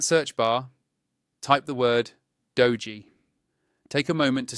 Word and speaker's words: doji: In that search bar, type the word dogee. Take a moment to spell it carefully, D O J I, so that the right results appear.